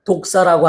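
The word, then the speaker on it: δόξα: 영광을 헬라어로 독사라고 하는데 나쁜 뜻이 아니고 발음이 그렇다 이 말이에요.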